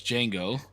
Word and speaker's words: Django: So you're saying Django couldn't come out right now? I really don't know. I've never actually seen Django. What? Is it Django? Django? No, it's Django. The D silent.